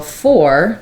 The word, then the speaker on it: four: not the pronunciation so four just has or plus F the or dip thong four um it never gets reduced when we're talking about the number so just like I